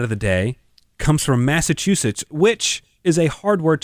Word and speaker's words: Massachusetts: but I think it's I think it's chew. Massachusetts. Massachusetts. Massachusetts. Massachusetts. Like, you're sitting and chewing.